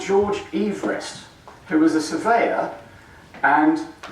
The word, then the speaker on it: Everest: better he's descended from a man called George Everest who was the surveyor and used to get very annoyed that his name was mispronounced as Everest all the time and he never actually saw